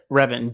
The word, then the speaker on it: Revan: Darth Revan. Darth Revan. I was gonna say Raven.